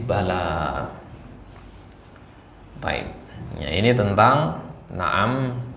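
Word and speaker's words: بلى: kalau di al-qur'an sendiri bala ini bacanya panjang ya dua harakat ya bala ya bukan bala tapi bala BAB ya ini tentang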